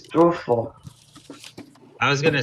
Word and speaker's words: Strudel: But the Germans pronounce it a strudel. Not strudel, it's strudel.